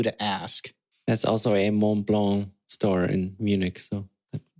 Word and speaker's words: Mont Blanc: It's not a hard at the end of Mont Blanc. It's French. So, we already know how my French is here, Urban.